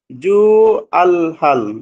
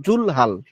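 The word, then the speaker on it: ذو الحال: এটা হল জুলহাল জু এখানে উচ্চারণ আলাদাভাবে ভ করবেন না এখানে জুলহাল এটা আপনার লামের সাথে ধরে নিবেন জুলহাল ফাইল এবং মাফলকে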